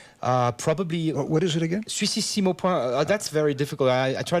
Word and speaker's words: Suississimo: Suississimo, it's like Swiss the word Switzerland in French, and Sissimo, Is it like Italian. It's Swiss. Sissimo, exactly.